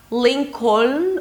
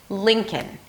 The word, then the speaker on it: Lincoln: It is not Lincoln or Lincoln, all right? There is no L, and not because it's a dark L and you barely hear it, just because there is no L whatsoever at the end.